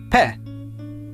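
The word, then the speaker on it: פה: The pe has a dagesh, so it is pronounced p. The segel is pronounced e, and the he at the end of a word is silent. Altogether, this makes pe.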